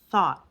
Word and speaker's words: thought: or naturally I thought thought it kind of dropped the T sound at the end thought I thought you